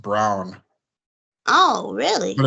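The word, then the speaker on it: Braun: would say BR but it's actually pronounced Brown It's Christian Brown just like Jaylen brown but it's I know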